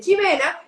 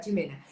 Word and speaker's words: Ximena: www punto com Jimena se escribe con x por eso en España me dicen Ximena y está perfecto viví tres años en Barcelona y me acostumbré a que todo el mundo me dijera Jimena entonces triple W Jimena